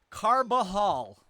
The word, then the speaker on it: Carbajal: But for those of you who need to know how to say his name, it's Carbajal.